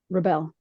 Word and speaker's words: Rebelle: me you know your last name is is pronounced Rebel Rebel okay so you were a drill sergeant